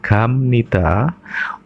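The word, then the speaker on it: 갑니다: Meskipun ini tulisannya B nida, membacanya karena B ketemu N dibaca M, maka M nida untuk jawab dan M nika untuk tanya. Contoh, gada pergi menjadi gam nida, yang artinya pergi ya untuk jawab.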